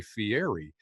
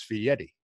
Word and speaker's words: Guy Fieri: your name correctly because people look at it and say Fieri but its fee Eddie its fee any you